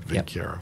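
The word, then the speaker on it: Vinckeia: mammalian subgenera Plasmodium, Lavarania, and Vincieria, however you pronounce that. Vincieria. That's what I said, Vincieria.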